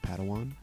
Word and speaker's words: Padawan: I think it's pronounced Padawan.